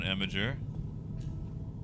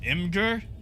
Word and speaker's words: Imgur: ah five out of seven someone's been on Imager or uh what's the other way people pronounce it that always starts fights Imgur like Jiff and gif nerd racking I